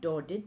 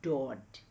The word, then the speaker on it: Daudet: So when we pronounce Daudet, it is not Daudet but it is Daudet.